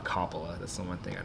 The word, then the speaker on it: Coppola: long as it's not Coppola. That's the one thing I don't like. I know it looks like it says cop in the first three letters, but it's just not how it's pronounced.